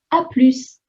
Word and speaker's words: à plus: you can just say à plus. Note that we only pronounce the S if it's à plus, the short version, and we don't pronounce the S in à plus tard, just P-L-U, plus.